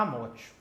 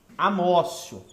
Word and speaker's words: amotio: É porque no latim o T pronuncia como C.